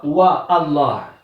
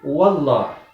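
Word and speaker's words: والله: Il ne dit pas wa Allah, il dit wallah.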